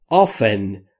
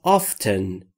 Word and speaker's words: often: Not often یا not often. Often یا often که هر دو تلفظ درسته یعنی اغلب.